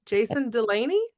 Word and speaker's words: Jason Delaney: Today I'm here with, let me hope I pronounced it correctly because I forgot to clarify beforehand. Jason Delaney?